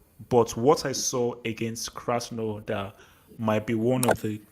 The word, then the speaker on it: Krasnodar: I can't even pronounce their name. But anyway. No, Vilton. Vilton. Don't they're called Krasnodar.